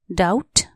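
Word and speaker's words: doubt: एस T trust शंका डाउट डी ओ यू बी टी डाउट यहां B silent हो डी ओ यू बी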